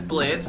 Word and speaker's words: Blitzø: and get meho hi my name is Blitz the O is silent of course wait what ho hi